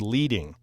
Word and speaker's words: leading: it before, it's spelled L-E-A-D-I-N-G. So it looks like the word leading, but it's actually leading because back in the hot metal type days, they'd actually use rows of lead to space the text.